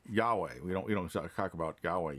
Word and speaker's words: Yahweh: We don't usually say Yahweh. Jehovah is just a corruption. Yahweh.